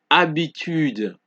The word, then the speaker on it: habitude: We don't pronounce it homme. We don't say histoire, hôpital. It is homme, histoire, hôpital, habitude, homme, histoire, hôpital, habitude.